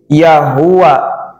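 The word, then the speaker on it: يا هو: kemudian zikirkan kalimah ini yahua dibacanya yahu yahu yahu yahu yahu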